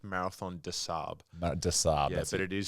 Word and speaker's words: des Sables: the disables is it yeah so it's it's pronounced Marathon disab disab yeah but it is spelled disables disables